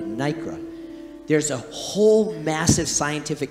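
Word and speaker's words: nacre: and i stand corrected i thought it was lycra i found out in further resource research it's called nikra n-a-c-r-e nikra i stand corrected nicara there's a whole massive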